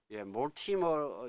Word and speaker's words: Mortimer: 따라서 여기서도 모티머 이게 만약에 뭐모 타이머 그랬으면 이렇게 쓰는 거 맞아요. 그러나 이거 모 타이머가 아니라 모티머죠.